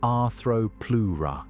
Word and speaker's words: Arthropleura: The genus is called Arthropleura, pronounced Arthropleura, and the name comes from Greek words meaning jointed rib.